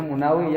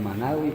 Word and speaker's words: Munawi: Bacanya Munawi ya, mimnya domah. Dalam kitab Bughiyah ada bidomil mim. Berarti Al-Munawi bukan Imam Manawi, Munawi.